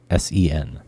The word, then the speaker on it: Bussan: Bussen. That's how she phonetically put it out there. Yeah, like a bus.